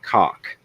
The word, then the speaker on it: KOK: But the flower horn has a nuchal hump on its head, which is a KOK pronounced cock.